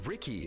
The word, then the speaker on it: Riki: Well, it's Riki, duh. Not to be confused with Riku from Kingdom Hearts. Though many people do confuse them because they look so similar. It's pronounced Ricky, isn't it?